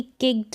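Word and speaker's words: kicked: यहाँ पर T sound pronounce होगा अगर आप इसको करेक्ट यानी सही स्पेलिंग पढ़ेंगे तो किक्ड ट का साउंड आ रहा है, फ्लॉप्ड ट का साउंड आ रहा है।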